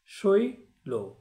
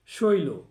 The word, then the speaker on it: শৈল: লয়ের সাথে ওকার ছিল না, কিন্তু উচ্চারণের সময় ওকার যুক্ত করে উচ্চারণ করতে হয়।